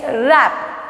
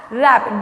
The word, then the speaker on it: wrap: Next, wrap, wrap, W-R-A-P, here W is silent, okay, wrapping something with the paper, W is silent, W-R-A-P, wrap.